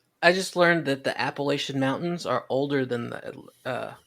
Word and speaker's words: Appalachia: For all my friends, for all my friends who are from that area, I'm going to pronounce it the way it's supposed to be pronounced, Appalachia.